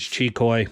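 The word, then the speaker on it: Xicoy: and by the way proper pronunciation is chicoy uh we fought about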